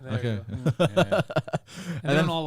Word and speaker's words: Corniglia: true yeah what corniglia you don't pronounce the G actually when you say it Cornelia Cornelia they don't all like